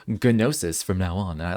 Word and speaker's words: gnosis: nosis because I think if you look it up it is like a Greek word and it's pronounced nosis but I forgot to